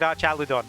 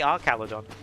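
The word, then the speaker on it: Archaludon: Which, by the way, before you anyone complains, I said Archalodon. That's how they say it in the anime. They say Archaladon. They don't say araladon.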